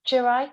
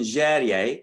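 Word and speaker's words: Jèrriais: Speaking of commercial writing, Kit's writing in a language that how many people speak Jurai, Kit? So quick correction, Jerye, how we pronounce it.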